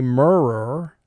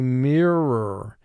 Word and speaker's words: mirror: You notice in mirror, IR is not a team. We don't say mirror, we say mirror. I, in the first syllable of mirror, is representing its short sound.